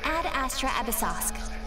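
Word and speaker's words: Ad Astra Abyssosque: Ad Astra Abyssosk.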